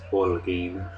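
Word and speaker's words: Holguin: just for the record my last name is spelled h o l g u i n just pronounce o g the H is silent um I I can't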